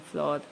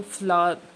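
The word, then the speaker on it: flour: Such as milk, rice, would, sand, water and फ्लोर। ये फ्लोर word नहीं, फ्लावर।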